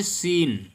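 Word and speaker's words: scene: देख पाएंगे लिखा है सीन क्या लिखा है सीन तो इसको हम सोसाइटी नहीं पढ़ेंगे क्या पढ़ेंगे बल्कि एस को साइलेंट कर देंगे एस को नहीं पढ़ेंगे बल्कि पढ़ेंगे सिन सी से शुरू करेंगे चीन चीन मिंस होता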